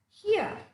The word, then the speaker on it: here: to be pronounced okay the letter R is not to be pronounced so the pronunciation of the word which is given there as an example for the first sound is to be pronounced as here here her sound is